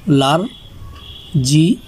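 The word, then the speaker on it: large: এ তে লা আর লার, জি ই লার্জ, এই শেষে যে ই আছে এই ই এর উচ্চারণ হবে না।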